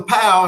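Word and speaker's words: pau: So we'll close out with a pow. Remember, pow means ending in Hawaiian. So it's spelled P-A-U.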